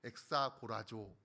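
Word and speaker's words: ἐξαγοράζω: 아끼다라는 말은 헬라어로 엑사고라조라고 읽습니다.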